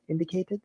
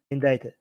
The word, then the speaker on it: indicted: Indicated? Indicted? Yep. Indicted. Why English is so weird? Why is there a C here if it's not going to be pronounced?